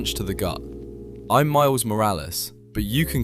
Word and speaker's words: Morales: Morales? You can't even say it right. You gotta roll the R.